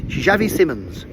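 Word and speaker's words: Xavi Simons: All the people keep saying it weirdly and Si Simons and Simons and his name is Javi Simmons.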